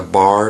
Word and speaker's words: barre: A bar is spelled B-A-R-R-E.